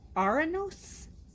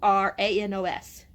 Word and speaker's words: Auranos: And Chloe is from Uranus. Uranus. It's Auranos.